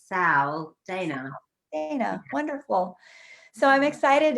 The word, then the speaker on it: Sal Daina: Now, I should have asked you, some people say Sal, some people say Sal. Daina, how would you like your name pronounced? I like Sal Daina.